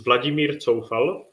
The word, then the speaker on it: Vladimír Coufal: So it's Vladimír Coufal and Tomáš Souček.